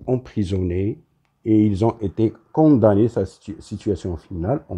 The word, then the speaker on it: condamnés: les voleurs ont été condamnées alors ça s'écrit avec mm et on le lit condamné finalement les voleurs ont